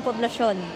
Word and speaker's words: Poblacion: Salamanca Street in Poblacion.